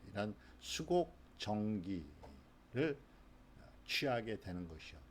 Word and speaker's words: qi: 그래서 QI, 취 그럽니다. 기의 중국 발음 취.